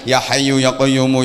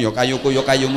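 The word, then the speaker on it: يا حي يا قيوم: Harusnya kan ya hayyu ya qayyumu, ya hayyu ya qayyumu, ya hayyu ya qayyumu, ya hayyu ya qayyumu. Tapi bacanya yo kayuku yo kayumu, yo kayuku yo kayumu, yo kayuku yo kayumu.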